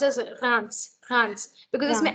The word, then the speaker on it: Reims: Then further, this is a city name actually in France, and you do pronounce the S also. Try. Reims. Yes, that's right. I think you might be